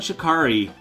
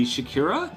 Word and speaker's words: Shikari: Arcbound Shikari. Am I saying it right? I always feel like I should say Shakira, but I know that's wrong.